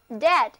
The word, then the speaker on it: dead: 你们好吗？今天一来要谈的这个话题有点吓人，就是 D-E-A-D, dead。这个词根跟死亡有关系。D-E-A-D 这个词根本身也是一个单词，中间的 E-A 字母组合念作 A，单词读作 dead。都跟我念一遍吧，dead，没有生命的、死亡的都叫做 dead。比如，一块没有生命的岩石就可以说成 a piece of dead rock， a